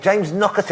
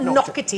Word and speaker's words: Naughtie: It's pronounced Naughtie, but it's spelt naughty. It's Naughty, isn't it? It's not Knockety. It's like Knockety Knock.